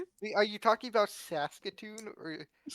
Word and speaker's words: Saskatoon: Saskatchon.